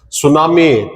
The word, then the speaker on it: tsunami: Tsunami t is silent tsunami correct.